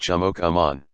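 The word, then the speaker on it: chimookomaan: other states the word for white person is pronounced jamok Amon it translates to man with a knife because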